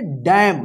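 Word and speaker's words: damn: चलिए यहां पे देखिए डी ए एम एन देखिए यहां पे लास्ट में एम के बाद एन है तो एन क्या रहेगा साइलेंट रहेगा इसको क्या पढ़ेंगे डैम डैम का मतलब होता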